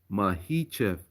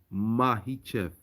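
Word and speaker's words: Makhachev: It's pronounced Mahichev, Mahichev, Mahichev.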